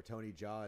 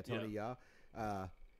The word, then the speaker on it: Tony Jaa: Dudes like Tony Ya or Tony Jaa is how most people say it. I found out I've been saying it wrong for forever. Ya? Yeah, Tony Ya.